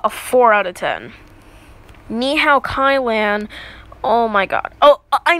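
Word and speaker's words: Ni Hao, Kai-Lan: Nihao Kai-Lan oh my god oh I mean night how Kailyn I know that it's pronounced Nihao kailan but it's just so much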